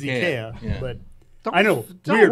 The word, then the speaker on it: IKEA: Yeah, I mean, the Swedish way to pronounce it is IKEA.